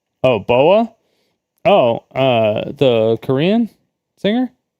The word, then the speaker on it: BoA: Not BA. Say it like Bao. Oh, Boa.